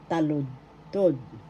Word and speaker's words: taludtod: Verse in Tagalog is taludtod. Taludtod. The accent is on the first syllable. Taludtod. First syllable ta, second syllable lud, third syllable tod.